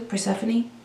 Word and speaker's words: Persephone: Persephone? And it just looks like phone instead of phony.